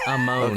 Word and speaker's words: Amon: Am I pronouncing that correctly, everyone? It's Amon.